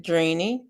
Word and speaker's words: Dreeny: How do you pronounce Dreeny? You just pronounce it Dreeny.